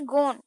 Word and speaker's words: gone: उसी तरह पोएट पूछ रहे हैं डन, DONE डन, GONE गॉन गॉन, और वहीं पे LONE लोन। तो इन सब के वर्ड्स भी लास्ट के सेम ही है, लेटर सेम है, अल्फाबेट सेम है, लेकिन फिर भी इन तीनों का प्रोनाउंसिएशन जो है वो बिल्कुल अलग है।